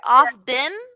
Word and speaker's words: often: If you're like phonetically saying it, you pronounce that T often. But you'll hear it in the States, people say often. like with a D almost.